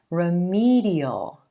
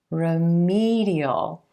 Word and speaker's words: remedial: we add the suffix remedial remedial the emphasis shifts to the e as in green sound right before the suffix remedial alright so now you